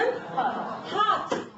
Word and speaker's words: heart: R 발음이 말할 때는 하지만 노래할 때는 heart. 알 빼세요.